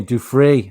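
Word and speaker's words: Giuffre: He who has still not been questioned by the FBI as a co-conspirator for the Virginia Duffrey, I believe is the pronunciation of her second right.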